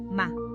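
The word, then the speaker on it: 間: Se escribe con un carácter que es una puerta con el sol. Asomándose entre las hojas se lee ma.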